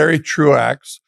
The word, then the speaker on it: Truax: Barry Truax, who is not how I would have pronounced that.